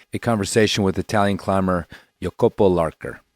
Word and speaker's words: Jacopo Larcher: conversation with Italian climber yopo lker not jacapo Larcher as you might have thought and read it's difficult to say